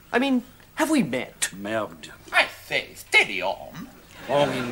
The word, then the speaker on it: merde: Merde. It rhymes with terd.